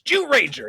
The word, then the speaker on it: Zyuranger: when Heim Savant says Jew rager yes because he's Jewish yes uh yeah it is it's spelled with a z but the way it's pronounced in Japanese is actually Jew um and it stands